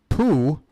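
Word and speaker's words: pū: I don't think so, but poo. Hey, here's some fun, guys. The word for crab out here is poo. Not P-O-O phonetically. It's more like P-U with a little line over the U.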